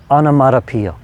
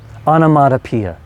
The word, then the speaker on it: onomatopoeia: Onomatopoeia. Onomatopoeia. Let's say it slowly. I think it's 6 syllables.